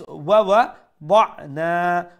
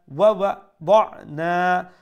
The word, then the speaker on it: ووضعنا: So break it in two pieces, okay? Wawa in one part and ضعنا in one part. Then when you are able to pronounce it properly, then join the wawa with the ضعنا. So wawa ضعنا wawa ضعنا, like that.